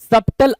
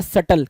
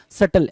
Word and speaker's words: subtle: सबटल आप पढ़ते हो, सबटल हम पढ़ते हैं, लेकिन एग्जैक्टली ये वर्ड होता है सटल। क्या? सटल, SUBTLE, जहां पे बी साइलेंट होता है, सटल पढ़ते हैं इसको, SUBTLE, सटल।